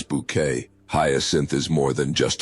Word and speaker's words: Bucket: With her insistence on pronouncing Bucket as Bouquet, Hyasin is more than just a laugh.